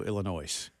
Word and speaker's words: Illinois: say that it's like the S is silent always has uh yeah it has